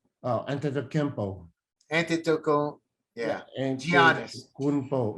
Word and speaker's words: Antetokounmpo: How do you pronounce that last name? Oh, Antetokounmpo.